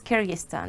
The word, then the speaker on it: Kyrgyzstan: know speaking of growing up I've tried to pronounce where you are from and I can't do it can you help me it's Kyrgyzstan Kyrgyzstan yeah I did have it then he